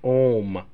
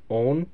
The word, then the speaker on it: Ohm: It's pronounced Ohm. Own? No, Ohm. I can't pronounce you. There's nothing to pronounce. It's just Agent Ohm. Not home. Ohm.